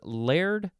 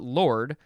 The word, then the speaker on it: laird: auroch o-r-r-o-k who was laird of silly bobby fl what is this saying i wish i knew scottish uh okay alexander arak who was layered not lord laird l-a-i-r-d of s-i-l-l-e hyphen